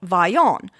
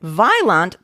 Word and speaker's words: Vaillant: Now, here in Belgium, we use, of course, the French pronunciation, which stress on the last syllable, a Y sound in the middle, and a nasal at the end.